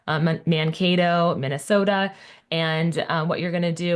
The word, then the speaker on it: Mankato: And so I was like, I think you picked Mankata. Is it Mankato. Yep. Mankato? Oh man, I butchered that.